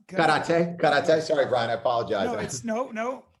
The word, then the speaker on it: karate: Karate gets a bad rap, but between it's pronounced karate.